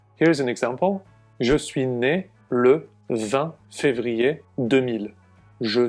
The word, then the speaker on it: né: You then have to add a very small word, né, if you're a boy or a man, or né if you're a girl or a woman. The pronunciation is the same, but the spelling is different.